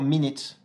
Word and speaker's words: minute: Attention aussi au U qui a tendance à se prononcer I, comme par exemple dans « business »,« busy » ou encore « minute ».